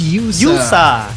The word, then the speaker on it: Yosa: by allora cuz uh in the mid Ling it's USA okay it's not yosa it's USA all right it's USA great USA thank youur for